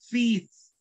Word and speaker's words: fifth: Fourth, fifth. Okay, be careful with this one. Fifth. All right, this is the correct pronunciation for this one.